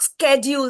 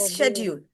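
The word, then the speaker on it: schedule: pronouncing okay okay thanks it इज नॉट स्ेड्यूल स्ेड्यूल इज an American English it इज शेड्यूल शेड्यूल शेड्यूल but ma'am now अ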